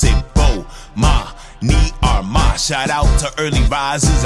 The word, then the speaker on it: Bomani Armah: announcements imma say my name so you can pronounce it oh ma me are my shout out to early advisors I see who